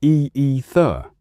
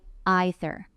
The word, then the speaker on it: either: Leo, how do you say either? I usually say e-e-ther. And I sometimes say i-ther. Friends, both are 100% correct.